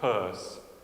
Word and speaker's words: Peirce: Plato, and it looks like it's Pierce, but it's pronounced Peirce, American pragmatic philosopher.